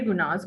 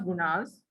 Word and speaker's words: guna: Au fait, il n'est pas prononcé as gunas. Il n'est pas supposé pronounce as gunas. It is gun, right? In Hindi, gun. But quand on met en anglais, nous disons gunas, right?